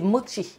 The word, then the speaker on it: mochi: Non, on m'a dit sur TikTok, c'est mochi. Il n'y a pas de thé, mais ça se prononce des mochi. Voilà, c'est moi qui prononçais mal, donc je vous dis, il y a des mochi.